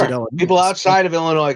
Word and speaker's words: Illinois: it people outside of Illinois call it Illinois like I mean it ends in an s absolutely but come on